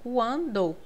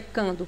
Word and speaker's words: quando: Aqui nós temos um N nasalizando o A, então quando. É diferente de queijo, porque se fosse dessa forma aqui, seria cando. Eu iria escrever assim, ó, cando. Não pronuncia cando, pronuncia quando. Você escuta esse U.